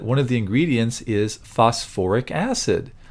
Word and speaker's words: phosphoric: now for some reason acids that have phosphorus and sulfur in them add that extra little syllable in there just to make it sound a little bit less awkward so instead of calling